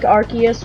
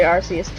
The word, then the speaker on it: Arceus: It's kind of like Arceus, where it's like, oh, it's super cool.